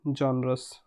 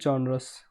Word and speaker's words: genre: So sorry for that, because pronounces I was pronouncing wrong word. It is not genres, it is genres. Okay, this one, it is genres.